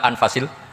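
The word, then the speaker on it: أنفس: saja di sini ditulis anfusil kutub saya baca anfasil kutub karena maknanya kitab ter baik Kalau kitab terbaik bacanya bukan anfus tapi apa anfas ya nanti kamu debat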